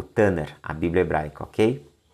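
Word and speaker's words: תנ״ך: tanak mas a pronúncia tanar né essa essa última é um ret ele é ele é falado como meio gutural é um R como se fosse três RS né na pronúncia e você vai ver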